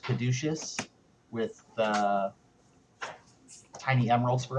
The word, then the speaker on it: caduceus: a uh a gold uh i think it's pronounced caduceus with the tiny emeralds for eyes i have